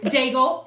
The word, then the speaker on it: Daigle: Daigle, which Keith Neal calls Daig because that's just ridiculous. Because you're not supposed to pronounce the L-E on Daigle, did you know, by the way? It's D-A-I-G. You're not supposed to pronounce the D-A-I-G. The L-E is silent. It's weird.